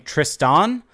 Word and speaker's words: Tristan: actual the the final the N at the end is silent so you're not even supposed to pronounce the n um but yeah so